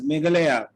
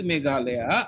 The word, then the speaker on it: Meghalaya: Like even today, I recall my English teacher, who used to pronounce Meghalaya as Meghalaya. And now when I have to speak Meghalaya, I'll say Meghalaya, so that goes with